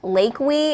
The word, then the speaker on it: Leakey: messing with us because he said Lake we and I'm like that is that it's not right but he said dang autocorrect it's Leakey so we've been pronouncing it okay um Oscar violet wants